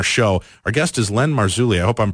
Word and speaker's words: Marzulli: Paranormal Radio Show, Len, is it Marzulli? Am I pronouncing that correctly? You're pronouncing it correctly.